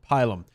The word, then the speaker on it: Pilum: Now, or as it should be properly pronounced, Pilum.